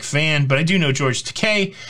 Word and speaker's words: George Takei: but I do know George Takei. Rhymes with toupee.